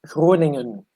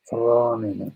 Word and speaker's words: Groningen: Actually, it was a really good pronunciation. It's Groningen. So I think Lorelai was pretty close. Groningen.